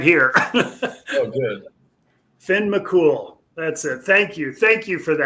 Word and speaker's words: Finn McCool: Finn McCool, that's it. Thank you. Thank you for that. That's obviously been bugging me. Finn McCool.